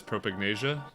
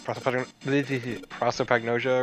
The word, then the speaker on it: prosopagnosia: Also, we came to the conclusion that Ace has propagnasia. What is it? Prosopagnosia or something like that?